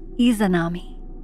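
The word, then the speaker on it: Izanami: II Perfect all right she's on our list pronounced isanami eami is it may eame she deforms faces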